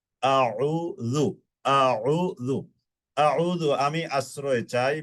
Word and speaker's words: أعوذ: শব্দটা আউযু, একটু উচ্চারণটা খেয়াল করবেন। অনেকে আউযু পড়েন, মানে প্রথমটাও হামজা বানিয়ে ফেলেন, দ্বিতীয়টাকে হামজা বানিয়ে ফেলেন। একটু খেয়াল করলে ইনশাআল্লাহ এই ত্রুটিটা আমাদের হবে না। আউযু, হামজা জবর আ, আইন